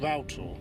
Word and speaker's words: Rough Tor: This is Little Rough Tor, and over there is Rough Tor, so actually pronounced Rough Tor. Rough Tor. Yeah. As in like a router. No, as in Row, meaning rough.